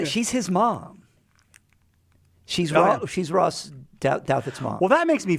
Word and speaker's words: Douthat: She is Ross Doutwaite. How do you say it? Douthat.